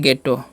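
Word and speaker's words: ghetto: Okay, और इसे पढ़ते हैं, यहाँ पर देखिए क्या साइलेंट है, एच साइलेंट है, तो इसे क्या पढ़ते हैं गेटो, गेटो पढ़ते हैं।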